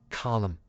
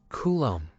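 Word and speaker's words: coulomb: everywhere in the world in America we normally say column but the proper pronunciation in English is Kum is a quantity measurement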